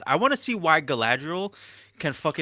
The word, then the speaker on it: Galadriel: want to see why Galadriel can turn kind of evil I'm sorry pronouncing it wrong it's Galadriel okay yeah all right that's